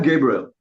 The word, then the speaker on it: Gabriel: By the way, I'm Gabriel and don't call me Gabe. It grates on my on on my feelings. I I love my three syllable name, man.